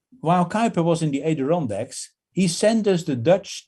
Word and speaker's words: Adirondacks: And first he went to the Adirondacks. That's how you pronounce it? Sure. The mountains. Sure. Yeah. So he first went to the Adirondacks, and because he loved hiking, and he hiked